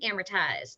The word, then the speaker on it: amortized: many many years ago just think of hammer time amortized and that way you'll say it properly every time charge accounts now these